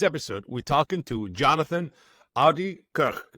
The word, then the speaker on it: Oudekerk: On today's episode, we're talking to Jonathan Oudekerk. I wanted to pronounce it the Dutch proper way.